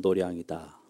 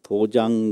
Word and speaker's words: 도량: 그런데 쓰기는 마당 장자를 쓰는데요. 길도자고. 읽기는 도량이라고 읽어요. 이런 불교 한문의 의미, 발음이 많이 있거든요. 그거 잘 구별해서 해야 돼요. 그 도장 그러면 불교 모르는 사람이다 이렇게 알거든요. 도량 그렇게 읽는게 불교 발음입니다.